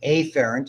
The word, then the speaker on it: afferent: The peripheral nervous system, incoming, afferent is how we pronounce that. Okay. The reason, because afferent and efferent, when you say them quickly, afferent and efferent sound the same.